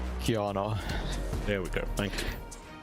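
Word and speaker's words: Qiyana: And on the other side, we're seeing a Gwen, and I could never pronounce that champion's name correctly. Kiana.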